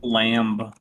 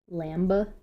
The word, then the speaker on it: lamb: I cooked lamb. Lamba? Lamba. Yep. There's a B on it for no reason. So guess what? I'm gonna pronounce that B.